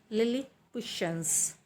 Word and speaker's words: Lilliputians: The correct pronunciation of this word is Lilliputians.